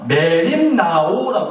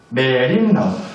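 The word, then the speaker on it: μεριμνάω: 근데 이게 헬라어인데이 헬라어를 이렇게 읽습니다. 메림나오라고 읽어요. 메림오.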